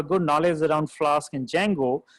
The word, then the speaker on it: Django: one is known as django where the d is silent guy so i i